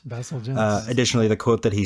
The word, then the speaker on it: Bazalgette: So real quickly, you were correct with the pronunciation. It is Bazalgette. Bazalgette.